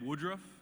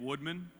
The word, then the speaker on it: Woodruff: First of all, I'd like to say my name is Woodruff, not Woodman.